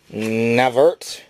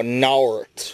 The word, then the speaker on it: Nauert: And of course, we have Sega Genesis Secrets Volume 4 by Andy Eddy and Don Navert. Oh, Nauert, it's spelled with a U.